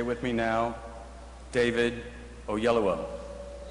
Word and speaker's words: Oyelowo: And that question is, how the hell do you pronounce his name? So if you will say with me now, David Oyelowo.